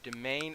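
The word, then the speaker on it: demesne: Or domain, as it is properly pronounced, as I learned recently.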